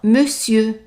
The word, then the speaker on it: monsieur: Even though here we have an on, but we pronounce it as an e, it's an exception. Usually we pronounce it as mon, but in this word here we pronounce it as me. So, monsieur, and the R at the end is silent.